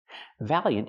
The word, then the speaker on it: valiant: Valiant is an adjective. We use the word to describe. Pronunciation, valiant. Valiant. It's two syllables. The first syllable has the vowel a like black cat, val.